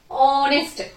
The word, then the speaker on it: honest: H silent here. So how we have to pronounce these words? Our, our. ఇక్కడ O తో పలుకుతున్నాం మనం. Our, honest, honesty.